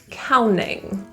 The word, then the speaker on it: counting: The T in counting, because it's after an N and it's not stressed, we often delete that T. Counting.